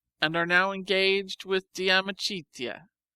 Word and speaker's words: De Amicitia: We've finished Livy and De Senectute, and are now engaged with De Amicitia, pronounced Damicitia.